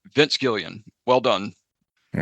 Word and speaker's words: Gilligan: Just to let you guys know, I think his last name is pronounced Gillian, as a matter of fact, but it's spelled Gilligan. Your correct answer, both teams got it right. Vince Gillian.